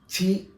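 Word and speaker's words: Χ: ക്രിസ്റ്റസ് മെസ്സേ എന്ന് പറയുന്നത് ഇതിന്റെ ഗ്രീക്ക് രൂപത്തില് എക്സിനെ ചി എന്നാണ് ഉച്ചരിക്കുന്നത്. ഇംഗ്ലീഷില എക്സ് ആയി ആ എക്സിനെ തെറ്റിദ്ധരിക്കുമ്പോഴാണ് ഗുണനവും നിരാരീകരണവും ഒക്കെ വരുന്നത് ഈഎക്സ് എന്ന് പറയുന്നത് ഏതാണ് ഗ്രീക്ക് ലെറ്റർ ആണ് എക്സ് അതിന ഉച്ചാരണം ചി എന്നാണ് അപ്പോ ഓർത്തിരിക്കുക ഈ എക്സിനെ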